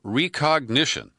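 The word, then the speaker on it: Rekognition: about the use of recognition. And that's where it's spelled R-E-K, ognition.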